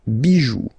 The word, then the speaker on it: bijoux: But still, as usual, it's not pronounced, so it doesn't really affect the pronunciation, but it's just for you if you want to write them correctly at the plural form.